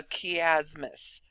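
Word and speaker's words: chiasmus: what we call a kiasmos the chi is actually pronounced with key not AI now this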